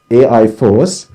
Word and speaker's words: AI4CE: multidisciplinary research group named ai4ce or pronounced as ai force which stands for automation